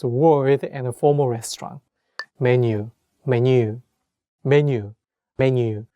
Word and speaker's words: 메뉴: Menu, menu, menu, menu. So it's following the same pronunciation. Like in Korean, we also say menu, or we also have